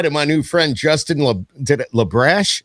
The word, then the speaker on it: LaBrash: my new friend justin lebrash is that how you said it yeah it's spelt like it sounds okay i like it